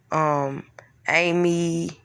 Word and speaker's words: amygdala: See, us real humans with emotions have a unconscious, biopsychosocial reaction that derives from a thing called amygdala, if I'm pronouncing it right, but it's spelled AMYGDALA, right?